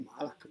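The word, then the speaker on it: מלאך: E si legge male a con Malak, che si voglia. Perfetto. La stessa parola, M-L-K, se la leggiamo non in quel modo, ma Melek, vuol dire re.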